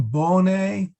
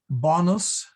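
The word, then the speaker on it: bonae: pox ominibus bonne volentatus we usually sing bonnet all right with a long o and that's because it's easier to sing okay it is actually a whoops it is actually a short uh o so it should be bonus not bonus like what we all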